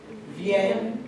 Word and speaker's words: viennent: How do you pronounce silent E? You don't. So you're going to say nous venons, vous venez, ils viennent, elles viennent.